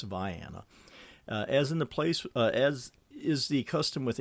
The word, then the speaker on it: Vienna: Now, if you look it up on a map and you see the name, you're going to want to pronounce it Vienna. It's not. It's Vienna.